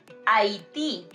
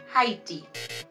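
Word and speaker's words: Haití: Also, we say Haiti, not Haiti.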